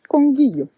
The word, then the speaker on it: Conguillío: Welcome to the national park Conguillío, I guess it's pronounced Conguillío.